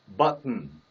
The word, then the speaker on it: button: 발음은 역시 이것과 마찬가지로 button.